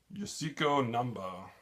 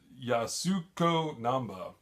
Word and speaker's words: Yasuko Namba: and passed away and then Yuma I know pronouncing this wrong Yoshiko numba you Yasuko Namba from Japan passed away tragically not more than